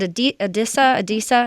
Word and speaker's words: Adisa: But is it Adisa? Is that how you say it? Yeah, Adisa Isaac.